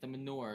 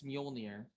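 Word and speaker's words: Mjölnir: You're saying it wrong, by the way. The Manure. It's Muolnir.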